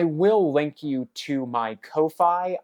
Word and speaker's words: Ko-fi: link you to my Kofi I personally refuse to pronounce it coffee no matter how much they want you to and that's after I